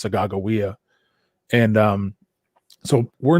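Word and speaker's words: Sacagawea: what commonly would be called her name is sacajawea but her name is actually pronounced sagawiya and um so we're not as well known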